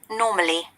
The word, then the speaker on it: normally: say normally we have we heard the british pronunciation listen to it carefully normally no there is no r sound can you see in